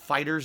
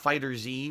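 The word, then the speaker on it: FighterZ: beta um and yes you pronounce it fighters not fighters II which makes no sense because they write it they write fighter and then capital Z which means technically when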